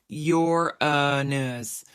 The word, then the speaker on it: Uranus: Uranus has a funny name too, pronounced Yor-a-nus.